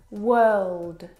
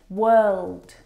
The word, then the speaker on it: world: The vowel sound is actually as in her. Work, world, word.